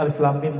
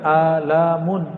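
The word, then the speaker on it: الم: Karena bahasa mereka masih bahasa bumi, sedangkan alif lam mim bahasa langit. Ya, semua orang Arab bingung. Kita alhamdulillah diizinkan Allah Subhanahu wa taala mendapatkan ayat-ayat seperti ini. Dan dibacanya bukan alamun. Alamun artinya penyakit, sakit.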